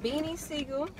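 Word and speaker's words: Beanie Sigel: And it's Beanie Siegel.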